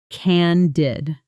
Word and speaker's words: candid: Let's pronounce it. Cand did. Stress on the first syllable. Short and clean.